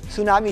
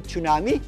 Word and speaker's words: tsunami: Ang tsunami po ay binibigkas ng tsunami. Silent po yan ha. Hindi po yan tsunami. Hindi po yan tsunami kundi tsunami.